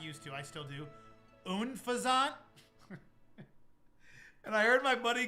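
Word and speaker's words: Unfezant: I called this unfazant for my whole life until my buddy recently called it unfaszant. And I was like, "Wait a minute. I'm an idiot. Unfazant.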